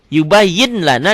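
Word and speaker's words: يُبَيِّنُ لَنَا: Yubayyin lana dibacanya jadi yubayyin lana. Ditulisnya kan pakai laten yubayyin ada n-nya. Yubayyin lana dibacanya jadi n-nya hilang.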